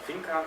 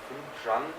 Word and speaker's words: Finjan: That's this place, it's not called Fincan, it's Finjan. Sorry, I didn't say it properly. No problem, everybody is like Café Fincan, Café Finjan.